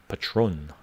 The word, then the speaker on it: Patrón: doing what's up what's up no no it's pronounced patron brother patrón patrón patrón yeah and it is good to